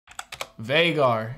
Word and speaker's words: Vhagar: I gotta look up to, Vhagar is how the dragon's pronounced.